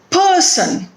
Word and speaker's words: person: stress when i speak the word person it is made up of two syllables per sun and can you hear the stress it is on the first syllable per person beautiful three syllables are there